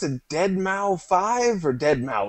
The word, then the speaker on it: Deadmau5: You've got, do you pronounce it Deadmau5 or Deadmau5? It's Deadmau5, isn't it?